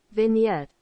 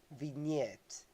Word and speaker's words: vignette: pronounced thick knit okay vignette vignette it sounds like a French vignette then yet vignette okay